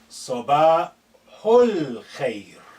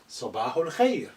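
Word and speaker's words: صباح الخير: Sabahul khair. Note this al khair, because this alif is not at the beginning, is been suppressed in terms of pronunciation. It's silent, it's not said.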